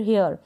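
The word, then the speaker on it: here: next है यह है एच को ह पढ़ा जाएगा हियर क्या पढ़ेंगे हियर या फिर हियर यानी आर को आप प्रोनाउंस कर दें तो भी करेक्ट है साइलेंट रहेगा तो भी बिल्कुल करेक्ट है और लास्ट में ई है इसको हम प्रोनाउंस नहीं करते हैं हियर का मतलब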